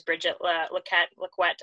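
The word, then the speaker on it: Brigette Lacquette: team, one of my best friends on the national team is Bridget Laquette, actually, is how her name's pronounced.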